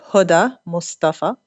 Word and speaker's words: Hoda Mostafa: to do it well the Arabic pronunciation would be Huda Mustafa but Hoda is okay Huda is okay so thank you thank